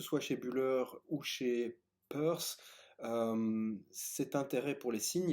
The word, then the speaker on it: Peirce: Alors, Peirce, P-E-I-R-C-E, hein, parfois on dit Pierce, mais il semble que la prononciation correcte de son nom de famille c'est Peirce, le pionnier de la sémiotique aux États-Unis.